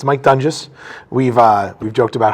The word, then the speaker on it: Doenges: sure uh so like you said it's Mike dungus we've uh We've joked about how the name's been mispronounced about you know 12 times over the